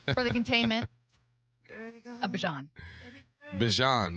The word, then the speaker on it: Bijan: Bijan. That's how you say it, too. Bijan. People say Bijan. Bijan sounds like Dijon. Yeah. What if that is how you say it? No, it's Bijan. Bijan. I heard him say it.